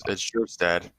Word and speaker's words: Kjerstad: It's spelled Kjerstad, but it's Kjerstad.